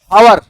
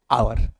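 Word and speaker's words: hour: अ हिल हवर शांत रहो। हवर क्या हवर सर जी? हावर यह हवर लिखा है। सर ये हावर लिखा है नहीं ये क्या लिखा है आवर आवर आ एच इसमें साइलेंट है बेटा क्या है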